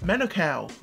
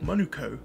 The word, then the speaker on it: Manukau: I see white society I've burned up saying Manukau instead of Monaco pepakura or Kura instead